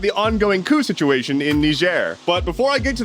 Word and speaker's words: Niger: I am a native American English speaker, and in American English, it's Niger. But apparently locals say Niger.